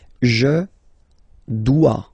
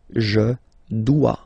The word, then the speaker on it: dois: Je dois. Okay, remember final S is not pronounced. Je dois. OE, when you combine the two, you get the sound wa wa wa.